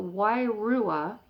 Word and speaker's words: wairua: diviner could discern the, here's another hard to pronounce word, the wairua, soul of the thief coming alongside.